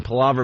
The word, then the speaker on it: palaver: Palaver means chatter or long, endless talk. Very Palaver. good. So Palaver.